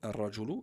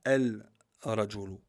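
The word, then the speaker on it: الرجل: Ici, vous voyez, ar-rajulu, il est écrit, mais on ne le prononce pas. On ne dit pas el-rajulu. Le lem n'est pas prononcé. On dit ar-rajulu.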